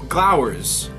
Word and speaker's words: glowers: together and GL flowers glowers cuz it spelled like flowers but with a G is that word glowers